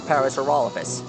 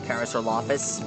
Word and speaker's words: Parasaurolophus: dinosaurs from Cretaceous I always thought that his her name was Paris or lapis but I was wrong it's actually Parasaurolophus I was actually saying it wrong sorry I had to